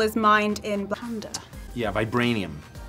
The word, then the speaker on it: vibranium: Yeah, vibranium. Vibrarium. Vibrarium? I'm really, really good with pronunciation.